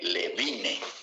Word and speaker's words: Levine: Se escribe Levine, con B chica, con B de vaca, pero se lee Levin.